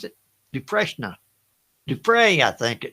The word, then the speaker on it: Dufresne: Is that how you pronounce it? Dufresne, I think. Dufresne, that's it.